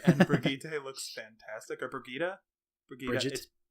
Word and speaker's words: Brigitte: How is this pronounced? Brigida. It's Brigida. Watch her video, her intro video. She says her name in the end, and it's Brigida.